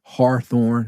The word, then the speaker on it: Hawthorne: in the city uh Hawthorne hathorne if you don't have somebody friend say hathorne that's how you say it in um in the you know ebonics or whatever you want to call it cousin live in